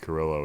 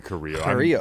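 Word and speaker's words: Carrillo: world crazy because EP Carillo is the big dog. Oh, it's Curillo. It's probably Coreo. That's that's the gringo in me pronouncing it like that.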